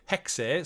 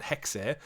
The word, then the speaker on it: Hexes: We got Assassin's Creed codename Hexes. So we were saying Hex, but it literally they do pronounce the E on it, Hexes.